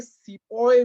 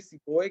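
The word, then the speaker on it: sepoy: आप सोच रहे होंगे सिपोय क्या है? ये अपना हिंदी वाला सिपाही है, right? The British were not able to pronounce the word सिपाही, hence they pronounced it एज सिपोय।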